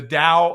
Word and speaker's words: Dao: pronunciation likely sucks uh my cross between D and T tends to sound more like a d so deal uh so let's talk today about the Dao of self-defense Dow of